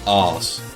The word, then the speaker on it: Arceus: Why did they even consider calling it arse? Okay, well, I mean, that's how it's pronounced in Japanese, but it's the arse means something in English.